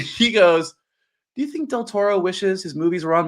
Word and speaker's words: del Toro: What did you think of this movie uh, from GMO del Toro?